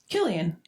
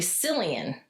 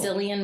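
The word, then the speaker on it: Cillian: Killian, right? I was pronouncing it well. Killian. It's actually Silian. Is it Is it Silian? People go either way. Okay. The actor goes by Silian.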